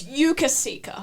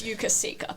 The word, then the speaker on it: Yukasika: It's Yukasika. Yeah. It's Yukasika. That's how Billy wanted that to be pronounced.